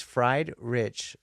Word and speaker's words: Friedrich: It's fried rich. Like those two together.